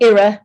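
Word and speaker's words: IRA: the inflation reduction act or era which is how we pronounce it we don't say it the other way in the UK because it makes everybody duck um and then of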